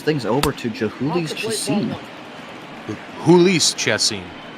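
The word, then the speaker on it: Jhoulys Chacín: over to juli chim hul chessine the Jay is silent yeah jul chessine you bet he uh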